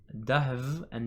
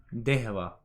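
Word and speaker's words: דהבא: Dahv, dahv, and then what's this? This is skapa, a long A in Eastern. Dahva, which means gold. Dahva, pronounced in most Eastern dialects as dehva.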